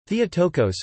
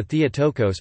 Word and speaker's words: Theotokos: Theotokos Greek, Theotokos Greek pronunciation, Theta Eotokos is a title of Mary, Mother of Jesus, used especially in Eastern Christianity.